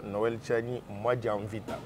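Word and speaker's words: Noël Tshiani Muadiamvita: Et mon nom se prononce Noël Tchani Mwanavita.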